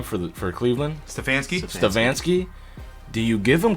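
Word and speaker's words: Stefanski: the coach's name uh David how do you pronounce the coach's name for the for Cleveland stansky stansky do you give him coach of the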